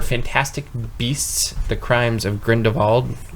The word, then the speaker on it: Grindelwald: For Fantastic Beasts: The Crimes of Grindelwald. Is that how you say it? Grindelwald. Yeah, that guy. I want to do the Germanic with the VW. Would you please? Grindelwald?